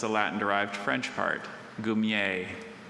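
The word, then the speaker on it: goumier: Gumier.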